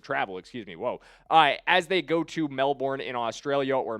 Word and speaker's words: Melbourne: They are facing 30 total hours of travel, as they go to Melbourne in Australia, or Melbourne, as some people have informed me in the comments. It is pronounced locally.